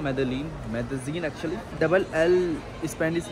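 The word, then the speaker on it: Medellín: फिलहाल इस वक्त मैं हूँ क्यूबा की हवाना एयरपोर्ट पे, और मैं फ्लाई कर रहा हूँ मेदेलीन actually. Double L Spanish में जे या वाई प्रोनाउंस करते हैं, डिपेंड करता है सिचुएशन पे।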